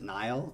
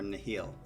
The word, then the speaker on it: Nihil: how to say this is it nile or nahil i think it's in the heel rivers of nahil nahil